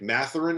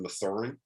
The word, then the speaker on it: Mathurin: Dallin Cuff messed me up, man, by having his name pronounced differently than Dalen Terry. So I blame him for that one. It's Benedict Mathurin instead of Mathurin.